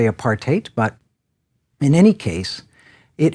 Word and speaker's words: apartheid: I'm sure that you've seen it and heard it many times, often pronounced apartheid or what have you, technically apartheid, but in any case,